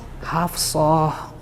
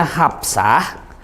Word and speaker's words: Hafsah: Hafsah pakai P. Kalau di tulisan Arab tuh dia Hafsah. Ini saya hapus ya, Bu. Kan sudah ibu-ibu sudah ngaji. Jadi makhrajnya harus benar dong. Ini bacanya Hafsah. Ini kan shad. Ya kan? Kalau dibilangnya Hafsah, itu sudah jadi aksennya Jawa Barat, Hafsah.